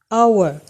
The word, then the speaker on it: hour: same way and our you do not pronounce this consonant sound here you say an hour so ah our is